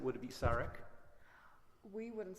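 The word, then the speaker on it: Šarić: Is it Saric or Saric? Saric. Saric? Yes. And is that because of the little accent? It is. Yes. So if I forgot the accent, would it be Saric?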